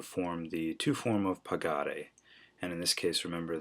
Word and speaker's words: pagare: For number one, I've asked you to form the to form of pagare. And in this case, remember that in order to keep that hard G sound in pagare in the infinitive, you